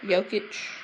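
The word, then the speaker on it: Jokić: I don't know if I pronounced that right. Jokic. Yeah, you did.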